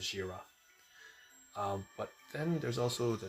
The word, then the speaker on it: ZRA: We can just say ZRA and pronounce it as Jira.